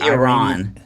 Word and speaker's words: Iran: I say Iran, but then people say Iran. It's great. Both are good.